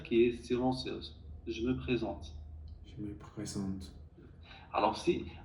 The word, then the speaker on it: présente: Par exemple, quand tu dis je me présente, tu dis je me présentais.